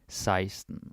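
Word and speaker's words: seksten: spelling here for 16 is Sexton but we pronounce it seism that's a little bit annoying but that is some history seism that's how you say it all right with translation 11.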